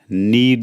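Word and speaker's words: knead: टो आटा गूंथ लो नीड the floor इसमें के साइलेंट है साइलेंट नीड द फ्लोर रोटियां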